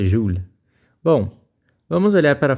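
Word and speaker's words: joule: utilizar essa grandeza aqui o júlio na verdade a pronúncia correta júlia bom vamos olhar para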